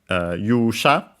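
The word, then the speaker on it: 勇者: Accent on the first syllable, so yeah, keep it in mind, it's one of those.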